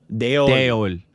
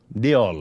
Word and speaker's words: Deol: Anil Kapoor, Bobby Dole. Bobby frickin' Dole. Is it... How you pronounce that last? We always called him Bobby Dole. Deol.